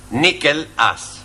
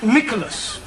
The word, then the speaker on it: Nicholas: upon a time there was a man called nickel us once upon a time there was a woman called nickel it's pronounced Nicholas alright once upon a time there was a man called Nico last he was supposed to man no no boss